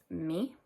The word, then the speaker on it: mi: So my is me, spelled m i, but it's pronounced me.